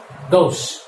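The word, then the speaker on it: gauche: This is pronounced as Gauss.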